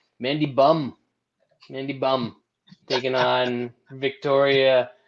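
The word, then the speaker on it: Mandy Böhm: pass podcast but uh correct pronounced nation mandy bum candy bum taking on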